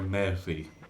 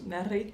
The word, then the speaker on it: meri: You're supposed to roll your R there. Meri. It's Meri. Meri. Thank you. Eric's not very good at rolling his R's.